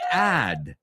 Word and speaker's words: add: And then the the second one ad rhymes with bad.